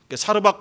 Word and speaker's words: 사르밧: 구약에서는 사르밧이라고 나오는데 히브리어로 사르밧이고요, 그것을 헬라어로 소리나는 대로 발음했을 때 사렙다가 됩니다. 같은 겁니다. 사르밧 과부, 사렙다 과부 이렇게 말합니다.